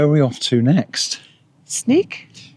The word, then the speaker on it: Sneek: Sneek. It is sneak. And I think that's how you say it. It's a S N E E K.